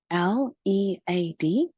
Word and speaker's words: lead: Lead, L-E-A-D. The second vowel is silent.